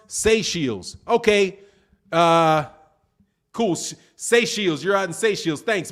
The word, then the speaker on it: Seychelles: If you're just, pronounce Seychelles. Okay. Cool. Seychelles.